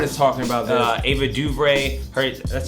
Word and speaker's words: DuVernay: Ava DuVernay, that's how you say her name.